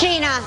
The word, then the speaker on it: Gina: It is pronounced Gina. It's pronounced Gina.